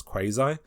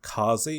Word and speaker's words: Quasi: one called that is spelled uh quasi which americans like to pronounce quasi but they chosen to pronounce it like make up this dialect and call it kazi which is northern british slang for a particularly like unpleasant toilet like a brick